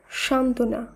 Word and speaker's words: সান্ত্বনা: আবারও বলি, যুক্ত ব্যঞ্জনের সঙ্গে যদি বফলা যুক্ত থাকে তাহলেও সেই বফলার উচ্চারণ হয় না। উদাহরণগুলো দেখে নেব, তাহলে আমাদের বুঝতে আরও সুবিধা হবে। যেমন উজ্জ্বল, সান্ত্বনা, মহত্ব, দ্বন্দ্ব, উচ্ছ্বাস, তত্ত্ব।